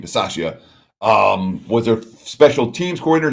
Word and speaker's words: Bisaccia: So the new Raiders head coach, Rich Bisaccia, I believe is the way you pronounce his name, Bisaccia, was a special teams coordinator.